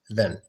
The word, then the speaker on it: than: Individually, it's pronounced than, but when we pronounce it in a sentence, it gets the A gets the schwa sound, which is a quick pronunciation of the vowel, and it becomes then.